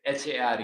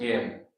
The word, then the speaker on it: Hare: H A R E H A R E. In English, it's pronounced hair.